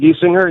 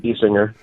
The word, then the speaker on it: Gesinger: I pronounce it Giesinger, yeah. It's been good. pronounced, I think, about 28 different ways throughout my life. So, but I pronounce it Giesinger.